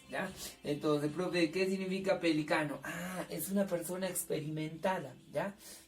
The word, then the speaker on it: pelicano: Profe, en pronunciación, acá dice pelícano, con énfasis. Acá dice pelicano.